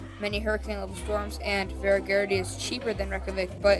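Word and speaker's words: Hveragerði: Remember that Hveragerdi is pronounced Hveragerdi.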